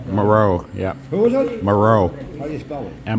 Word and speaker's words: Moreau: Isn't that Dr. Morel? Moreau.